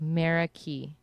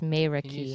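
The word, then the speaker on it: Meraki: may may ricky and it kind of looks like mera ki but it's may wreck you spell that for a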